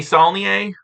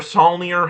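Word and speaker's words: Saulnier: Uh Jeremy Sneier or Sier, however the you pronounce it, is putting out a new movie called October. I'm going to pronounce it Sneier.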